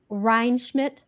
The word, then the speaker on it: Rheinschmidt: are so lucky to have the lovely Brandy rmid hopefully I have pronounced yes yes you got it gotta got